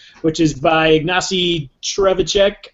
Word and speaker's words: Ignacy Trzewiczek: But Robinson Crusoe is my number 7, which is by Ignacy Trzewiczek, I believe is the correct way to pronounce his name.